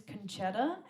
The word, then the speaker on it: Concetta: a common name um so often when i'm telling people they mishear me and they think that i'm saying my name is and that's not a name it's not it it's conchetta it's actually also my